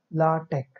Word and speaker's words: LaTeX: LaTeX is actually pronounced as LaTeX or LaTeX. Note that this X is pronounced as K.